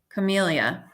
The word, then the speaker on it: camellia: Camellia. Is it Camellia? Long E like chameleon. So camellia.